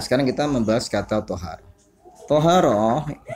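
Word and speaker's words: طهارة: Toharoh dengan dibaca fathah to-nya diucapkan toharoh ya.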